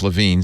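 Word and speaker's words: LeVine: the information subscribe uh I've been mispronouncing his name it's LaVine Steven Steve LaVine and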